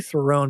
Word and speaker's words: Theron: She told us, and our producer, it rhymes with heron, the bird, the heron is heron is a bird. It's a duck. It's a thing, right? Yeah. So I said Charlize Theron as opposed to Theron.